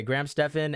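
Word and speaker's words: Graham Stephan: it and also celebrities no how do you pronounce his name Graham Stephen Graham Stefan yeah okay Graham Stefan and also celebrities like um Tom Brady so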